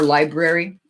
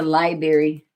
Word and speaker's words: library: you that can be err weird pronunciations both can be February yeah a boat or library I am going to the libary okay look it up